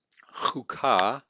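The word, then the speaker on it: חקה: And then number 6, chukah, chukah. This is a shurek. It's a short U. And we see a Dagesh here.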